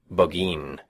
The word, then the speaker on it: Burgoyne: Nutting had a famous foxhound named Burgoyne. He pronounced it Bogeen, which my informant used to borrow.